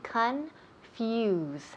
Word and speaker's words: confuse: to confuse to confuse their c-o-n that o sounds like an A okay confuse confuse okay now we're